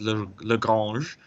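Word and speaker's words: Le Grange: So if your surname is Duplessis, for example, or Legrancy, even though it should be in French pronounced as Lagrange.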